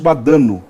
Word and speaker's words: Badano: Badano, essa é a pronúncia correta.